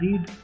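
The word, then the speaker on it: read: यहाँ पर पढ़ना की जो प्रोनाउंसिएशन होती है सेकंड फॉर्म में स्पेलिंग सेम रहती है, लेकिन प्रोनाउंसिएशन रेड हो जाती है। जैसे लाल कलर का रेड प्रोनाउंसिएशन होती है वो, रीड, रेड, रेड।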